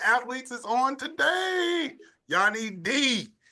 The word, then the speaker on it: Diakomihalis: Yianni Diakomihalis. How do you pronounce the last name? Diakomihalis? That's it. Diakomihalis. I said it right.